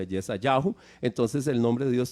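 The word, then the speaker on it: ישעיהו: Ok, si el nombre de Isaías incluye el nombre de Dios y en hebreo, que es las 4 letras, y en hebreo se pronuncia Yesayahu, entonces el nombre de Dios tiene que ser algo muy parecido a Yahu.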